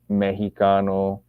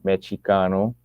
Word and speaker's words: Mexicano: Mexicano, because they didn't pronounce the X with a SH, they pronounced the X with a CH, right? Mexicano.